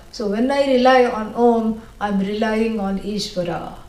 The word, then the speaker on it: Om: then people will say Aum. Nobody should say Aum. Yeah, that's wrong. You should never come in between the words which are joining to make a new syllable. A plus U, O, Om.